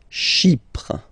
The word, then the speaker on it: Chypre: Chypre. So remember, we've got this Y letter here, but then phonetically when you pronounce it, it's like I, okay?